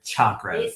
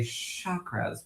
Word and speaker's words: chakra: me when I hear chakras. It is chakra is the correct way to say it. But in the house of Monroe, we say chakras with a very soft sh like a That's